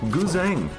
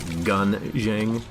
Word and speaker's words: Guzheng: Guzheng. It's a Chinese instrument. Chinese pronunciation of it would be something like Gunzheng or Gunjang.